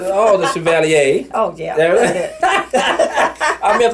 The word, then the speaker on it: Chevalier: Chevalier. Hey, y'all know I mess up every time. You gotta say it like you're in New Orleans. Oh, the Chevalier.